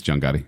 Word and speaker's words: Gotti: percent from the critics feels like you're saying it wrong it I'm not John Gotti okay Joel it's John Gotti yes still sounds weird